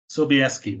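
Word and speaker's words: Sobieski: John ree Davies and ly how do you pronounce this seski seski sobeski there you go ly seski so um of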